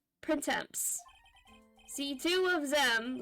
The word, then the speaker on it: Printemps: It's by the way, I think it's pronounced Printemps. Printemps. And if I'm not mistaken, it's French for springtime.